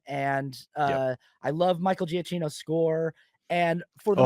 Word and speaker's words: Giacchino: I oh, found out his last name, you pronounce it Giacchino. Giacchino. Giacchino, Michael Giacchino. I saw, like, one of my coworkers was like, "It's Giacchino," because he anyway, Good. and I looked online, and that's how he said Michael Giacchino.